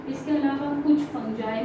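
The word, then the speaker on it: fungi: में देखने को मिलती है, इसके अलावा कुछ फंजाई में देखने को मिलती है। इट इज not pronounce as फंगाई, इट्स फंजाई, ठीक है, फंजाई और एल्गी, ठीक है।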